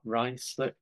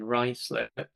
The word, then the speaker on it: Ruislip: So what you can see here is this is an example of Ruislip. Hope that's the right way to pronounce Right it.